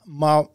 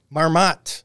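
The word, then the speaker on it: Marmotte: in Canada Fred La Marmot I'm gonna guess that's how it's pronounced Marmot thank you so Marmot I thought it would be marmo I dropped the tea anyhow the Beloved groundhog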